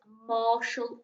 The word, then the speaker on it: martial: today and it's sure so we've got t i a l at the end making a shul sound ma ah shall and the sport is martial arts that you're going